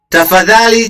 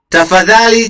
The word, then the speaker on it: tafadhali: Tafadhali cheza. Listen to that. You get the interdental. Tafadhali cheza.